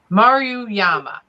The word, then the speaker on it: Maruyama: It's Maruyama. Oh, good Lord. All right. We're going to spell it. Maruyama.